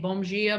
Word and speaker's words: bom dia: here and I'm saying bom dia, bom dia, bom dia. Like all my D's were G's for a long time.